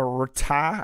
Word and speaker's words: Rta: early Hindus called it the root ah I think it's how you say it it's I spelled RTA or taw and the